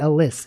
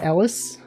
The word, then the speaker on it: Alys: Yeah, Alyss. It's It's actually pronounced Alys. I know it sounds like it may be pronounced Ellis, but she pronounces it Alyss because it's it's short for Alyssa.